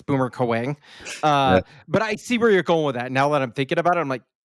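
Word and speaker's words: Boomer Kuwanger: No, Boomer Kawang. Boomer Kawang. Okay, because when I was a kid, I pronounced it Boomer Quanger.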